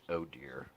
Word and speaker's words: ODIHR: their monitoring mission is called ODI H R which is pronounced oh dear which I find hilarious well if you look